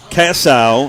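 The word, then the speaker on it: Kiesau: to this year eric cassow i hope i'm pronouncing that right it's k-i-e-s-a-u he is the offensive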